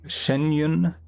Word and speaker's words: Xianyun: doing the the sh the shenyun and that's how they're they've been pronouncing it we're doing her story